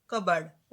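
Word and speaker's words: cupboard: पहले रीड करेंगे okay cover piece silent रहता है यहां पर कबर्ड ओके डेग बेड रूम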